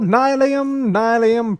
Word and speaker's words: nylium: It might be Nylium. The block's called Nylium, pronounce it right, Liam.